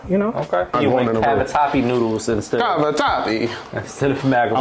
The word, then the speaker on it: cavatappi: You went cavatappi noodles instead of macaroni. I went and Googled the proper way to say it. Oh, okay. Cavatappi.